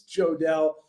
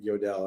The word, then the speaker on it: Jodelle: And I'm sorry, it's Jodelle. I've known people named Jodelle spelled the same, and they always pronounced it Yodel. And I kept, even when we had Jodelle on, I called her Yodel the whole time.